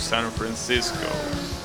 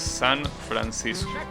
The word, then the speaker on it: San Francisco: Of course, in English you will pronounce San Francisco, but yeah, no. The original one is San Francisco. That's how you pronounce it in Spanish.